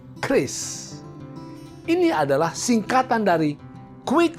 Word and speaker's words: QRIS: Q Ris Apa itu banyak orang yang mengira membacanya adalah curis padahal membacanya adalah Kriss ini adalah singkatan dari